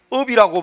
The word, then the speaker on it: 없: 업이라고 발음을 하죠. 업이라 발음하니까 요 비읍시옷을 썼더라도 사실은 발음은 뭐예요? 없스가 아니고 이제 서 발음은 없어.